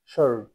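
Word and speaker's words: sword: উচ্চারিত হলো না আনসার এস ডব্লিউ ও আর ডি সর এখানে ডব্লিউ টা উচ্চারিত হলো না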